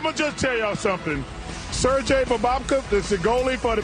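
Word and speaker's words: Sergei: goalie for the Panthers he also got the first name wrong that's Sergey Sir Jay that's why we just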